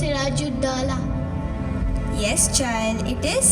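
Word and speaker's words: Siraj ud-Daulah: Kunal, it's pronounced Siraju Dala. Yes, child, it is Siraju Dala.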